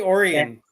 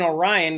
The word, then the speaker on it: Orion: Most people would say Orion What? or Orion, technically, but if you're from Michigan, it's Orion Township. It's area that instead of being Orion, I can't even say it wrong. I can't even say it the wrong way. It's normally pronounced Orion, like it's in Orion's belt, Right. but we say it Orion here.